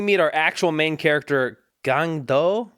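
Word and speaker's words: Gang-du: our actual main character gang doe I think is how it's pronounced gandu that's what I said you know what to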